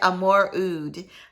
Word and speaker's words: Amouroud: And this is, I'm going to pronounce it. This is Amouroud. There's no AR in it. So it's kind of like Amouroud.